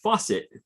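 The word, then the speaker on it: Facit: dan in sweden said that facet is actually pronounced faucet ah okay thanks good to know i know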